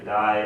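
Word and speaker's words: 大: In Chinese it's da, but anyway, in Japanese it's either dai or o. So in this case it's daisuki, right?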